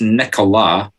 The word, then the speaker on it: Nicola: I'm going to have to laugh at that pronunciation. It's Nicola, and it's sturgeon and fish.